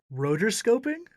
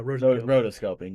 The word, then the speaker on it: rotoscoping: like motor scope rotoscope did i pronounce it weird you added the er to it yeah rotoscoping yeah waking up was